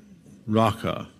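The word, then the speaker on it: Raca: the way it's pronounced, it sounds like the noise you make when you're clearing your throat to spit. I won't demonstrate, but you can practice in the solitude of your room. Raka.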